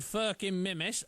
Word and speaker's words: Furkan Mehmet: Well, he ended up meeting a guy called Furkan Mehmet. Trust me, that's the correct pronunciation.